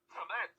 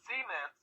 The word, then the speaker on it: cement: And, and like, there's some things like, I would say cement. No, Michael, it's cement, Right.